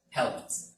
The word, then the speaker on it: helped: It ends with P. It doesn't make a vibration, so it's helped. Helped. This ed sounds like a T.